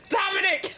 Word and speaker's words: Dominic: I've hardly played with you I don't even pronounce my first name right it's Dominic well but I will give a shout out